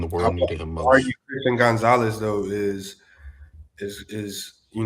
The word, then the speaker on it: Gonzalez: Christian Gonzalez.